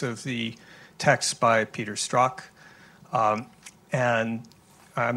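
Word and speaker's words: Strzok: and the optics of the text by Peter struck and I'm not sure I pronounce that name correctly struck struck thank you mmm and second depending who you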